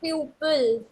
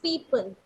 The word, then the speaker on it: people: Yes, but this is not pupil. This is people.